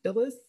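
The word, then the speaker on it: Filis: the next person is mary phyllis i think that's how you pronounce it f-i-l-l-i-s um she was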